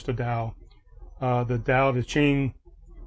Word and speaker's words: Tao: of it t-a-o-i-s-n Taoism the t is pronounced like a d um so we have